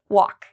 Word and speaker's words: walk: what about walk walk is there something I'm not pronouncing in this word walk do I pronounce every letter no walk okay so the L if you said the L I'm not pronouncing the L you're correct so in